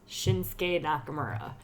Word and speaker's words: Shinsuke Nakamura: we did this because I pronounced his name wrong it's shinsuke Nakamura I'm sorry to the